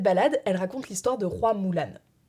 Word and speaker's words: Hua Mulan: elle raconte l'histoire de roy moolan oui c'est comme ça que ça se prononce en mandarin croix signifiant fleurs et